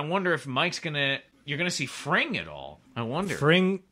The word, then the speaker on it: Fring: Why is it's Fring, like sing.